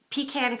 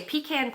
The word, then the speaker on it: pecan: I say pecan pie, but if I'm talking about the nut by itself, I would say pecan. So I pronounce it both ways. It just depends on how I'm using it, in what context I'm using it.